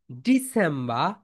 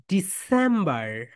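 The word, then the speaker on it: December: দেখো ডি স্যাম বা এখানে ব্রিটিশরা আর উচ্চারণ করবে না স্যাম এখানে কি হবে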